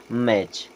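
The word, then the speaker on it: match: जैसे सही जोड़ी मिलाना लेकिन यहां पर टी होता है साइलेंट और इसे पढ़ते हैं हम मैच उसी प्रकार कैच करने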